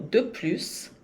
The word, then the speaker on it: de plus: Por exemplo, de plus, e aqui o S se pronuncia. O plus, às vezes se pronuncia, às vezes não, mas nesse caso, sim. Então, pronuncia esse S.